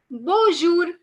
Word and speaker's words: bonjour: in french is bonjour bonjour because the n is not pronounced over here so you won't say bonjour but you would say bonjour now this is by